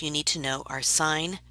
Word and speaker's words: sine: adjacent to the angle these ratios are abbreviated si n cos and 10 please do not pronounce them as sin cost and 10 that's the quickest way to drive a maths teacher crazy they are sine cosine and tangent yes so in the diagram